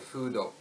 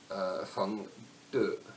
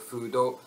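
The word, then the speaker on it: 風土: He even couches his remarks in the concept of fudo, feng de, in Chinese, an ancient Chinese term signifying, that's the wrong Chinese pronunciation, but an ancient Chinese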